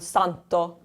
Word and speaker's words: santo: Poi, the third here, starting the word, so it has the soft sound. Santo.